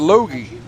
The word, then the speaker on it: Logie: Fran Bushart telling us that Loggie's pronounced Logie. I could believe that.